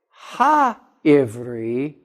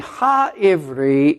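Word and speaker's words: העברי: have the definite article, because the definite article in Hebrew would be spelled with an H. And so this is here spelled Ivri. Now it's Ha-Ivri. And Ha-Ivri is where I think the word Hebrew came from.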